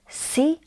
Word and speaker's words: ci: Ci is pronounced as ci. Ci.